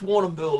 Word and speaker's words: Warrnambool: it you say it what it's pronounced warren bull it's a um aboriginal name okay but uh but